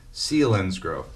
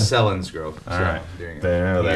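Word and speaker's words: Selinsgrove: oh then say PS name of my town is pronounced sein grow not celin grow keeping the headphones on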